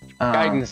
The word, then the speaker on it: Gaiden: game too okay okay guidance is the correct Japanese pronunciation but yeah yeah but